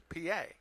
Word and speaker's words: Pie: Obviously, because you look at his name, it's spelled out Pie, but it's not Pie, it's PA.